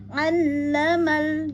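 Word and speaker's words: عَلَّمَ: Ya, perhatikan pada ain itu udah pasti beda terdengar dengan hamzah, ya, pada Ar-Rahman, karena ain ada pada tengah tenggorokan. Pastikan ada penekanan pada saat pengucapan huruf ainnya. Kemudian sempurnakan mulut kita untuk dibuka, ya. Kemudian masuk ke lam yang bertasdid, dihentak, ya, karena bertasdid.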